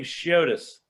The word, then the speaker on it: Chiotis: I pronounce his name Chiotis.